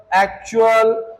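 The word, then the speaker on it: actual: देखते हैं अब जब किसी वर्ड में टी के बाद यू ए एल आए तो टी का उच्चारण च होगा।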